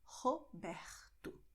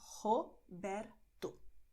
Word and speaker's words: Roberto: in São Paulo, but Roberto will be pronounced differently in other regions, as I told you, with the throat. So you have Roberto in many regions, okay, both with your throat, okay, Roberto.